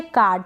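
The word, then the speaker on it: card: इसको कार्ड या कार्ड, यानी जब भी ऐसे आर आएगा ना ए के बाद में तो उसको हम आधे र के रूप में प्रोनाउंस कर भी सकते हैं और ना भी करें तो भी वो करेक्ट प्रोनाउंसिएशन होता है।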